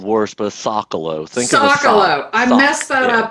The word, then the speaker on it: Socolow: great folks joining me here i've got sokolov am i pronouncing that right soon well i've been called worse but a soccer low thanks i messed that up every time all right sokolow and uh phillip gryson so um you